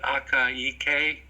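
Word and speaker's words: Akaike: Most people would translate it into the Akiyiki Information Criteria. Akiyiki is a Japanese statistician who proposed it. And it's spelled exactly like it sounds, although I wouldn't try to do it real time.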